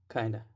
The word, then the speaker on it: kind of: of brand new fool you kind of is pronounced kind of kinda kinda so it's really common to take the